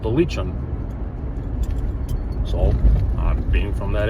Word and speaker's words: Lican: So, the channel is called Leechon Outdoors. say leech like the bait leech on. Leech, not liking, not leaking, not anything like that.